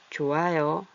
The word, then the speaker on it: 좋아요: 계속 읽으면 이렇게 돼요 좋아요 좋아요 히을 만나면 이응을 히이 이응을 만나면 얜 소리가 없어져요 그래서 좋아요 이렇게 되고요 월요일에 얘도 요리 가고 열리